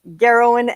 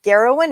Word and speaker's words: Gerowyn: And you remember it's a G, not a J, because my husband's name's Gavin and my mum's name's Gail, and I've got goats. So it's Gerowyn and the goats.